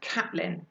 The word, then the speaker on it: Caitlin: to her new book I know it's spelt Caitlyn but it's pronounced Caplan I don't know why and that you can